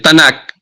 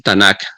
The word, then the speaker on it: Tanakh: La Biblia hebrea o el Tanakh. Tanakh es un acrónimo de la palabra T de Torah, N de Nevin, que son los profetas, y la K, que se pronuncia como una J ahogada, que Tuvin, que son